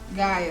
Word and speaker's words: Gaia: Gaia. Gaia.